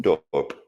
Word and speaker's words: Hoofddorp: A terrorist attack in Hoofddorp. I don't know how to pronounce that. Did I say that wrong? Hoofddorp.